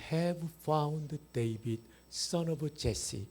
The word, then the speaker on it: Jesse: I have found David, son of Jesse. 이세가 영어 발음으로 제시입니다.